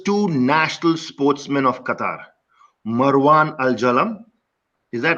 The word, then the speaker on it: Marwan Al Jalam: This episode features two national sportsmen of Qatar, Marwan Al Jalam. Is that right? Yes, Did I right.